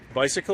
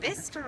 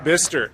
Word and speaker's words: Bicester: Right now, we're up in Bicycle, or what is it? Bicester. Bicester. It is not pronounced the way it is spelled.